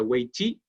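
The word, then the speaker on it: 危机: crisis imagina eso es la palabra crisis en chino se pronuncia weich y está compuesto por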